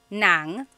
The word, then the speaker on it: ng: Uh S on YouTube asked, "Is nang and nang the same thing?" Oh my gosh, I love this question. So, there are two types of nang in Tagalog. N a n g nang and then ng nang.